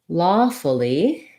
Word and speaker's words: lawfully: let's look at that so in lawfully we have first syllable stress this letter a says the ah vowel which we often spell like a w like in law so you see the stress symbol you'll see the ah symbol um then the lawfully it's it's not really like the word fully um because it's not